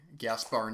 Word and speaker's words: Gaspar: episodes and pointed out that I have been pronouncing Gaspar Noé's name incorrectly last episode.